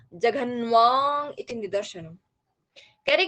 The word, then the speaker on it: जघन्वा: अगर जघन्वा बोला जाता है तो कह रहे हैं जघन्वा, इसकी आवाज कांसे के समान निकलनी चाहिए।